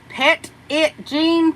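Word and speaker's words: Petit Jean: lordy lordy Sheila tub says uh uh is pronounced petite ptit pet it Jean pet it Jean okay well thank you thank you I didn't know that but uh I'll try to remember that pet it Jean I better make a dash there cuz you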